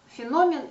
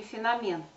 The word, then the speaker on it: феномен: это слово и а у саши лов ударение на третий слог феномен но оказывается феномен говорить неправильные все-таки те кто говорят феномен а что тоже приходится слышать довольно часто может быть это 50 на 50 но все таки мне кажется большинство говорить неправильно феномен но все-таки нужно говорить феномен запомнить пятый пункт кулинария